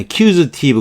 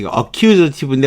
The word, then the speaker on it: accusative: 발음을 주의하셔야 돼요. 어는 발음 안 해도 괜찮아요. accusative 그렇지. accusative인데 어는 발음 안 해도 괜찮고요.